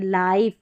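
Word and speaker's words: life: आ रहा है तो यहाँ पर हम इसको लिव करके नहीं पढ़ेंगे, लाइफ, यानी आई का उच्चारण आई करके होगा, आई, ये है, इसको लिक नहीं पढ़ते, इसको लाइक पढ़ेंगे।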